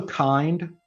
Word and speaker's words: kind: There's also Kind. This is spelled out Kubernetes in Docker, but you'll see it often referred to elsewhere as Kind.